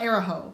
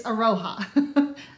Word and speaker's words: Aroha: I think it's Aroha, not Araho. It's Aroha.